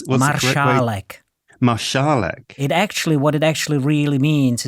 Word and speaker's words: Marszalek: actually, because his father, you would pronounce the S as Esh, because his father was of Czech origin, as you wrote in your book. Oh, so how do you pronounce Marszalek? Marszalek.